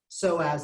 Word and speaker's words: psoas: The P is silent. Don't ask me why. Die mad about it.